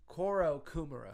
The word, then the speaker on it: Kourokumura: Kourokumura. Yeah. Okay, Kourokumura.